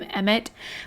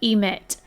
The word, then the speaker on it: Emit: YouTubers and whatnot and Sims players are calling him EMT but his name is not spelled EMT it is spelled emit e m i t is to emit so I'm going to continue to pronounce it emit if they want to